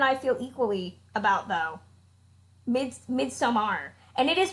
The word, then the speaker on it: Midsommar: If you pronounce it Midsummer, they're like, we're sorry, we can't sell you a ticket. You have to pronounce it correctly. So yeah, Midsommar is how it's supposed to be pronounced.